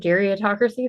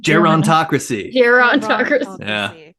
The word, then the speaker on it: gerontocracy: learned about, I'm already going to butcher the word, geriatocracy. That's not right. Gerontocracy.